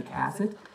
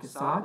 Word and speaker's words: Cassatt: Webb's mother, Louisine, was good friends with Mary Cassatt. That's how the family wants you to pronounce the name. It's not Cassatt. They don't want you to Frenchify it, in their words.